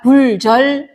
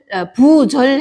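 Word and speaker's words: 不竊: 오면은 부로 발음해야 돼요 자 얘가 아니 얘는 부도 되고 불도 되는 글자인데 뒤에 오는 글자가 디귿 디귿 또는 열매 실자 오면은 얘는 불로 발음해야 되는데 자 훔칠 절은 지그이 아아 그래서 얘는 부로 와야 되니까고 불자를 부로 고쳐 주시고요 자 자 선생이 진실로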